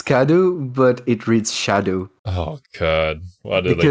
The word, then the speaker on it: Scadu: radiant landscape of scadu scadu it's pronounced shadow alus Beau yeah I